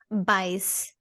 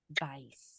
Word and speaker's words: Bajs: How do you say poop in Swedish? Bajs. Bajs. All right. Nice, you said it perfectly. I'm gonna remember that one now. Bajs. Bajs. Like bye, but So when I look